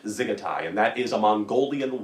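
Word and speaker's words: dziggetai: to learn today is zigetai zigatai the d is silent zigitai and that is a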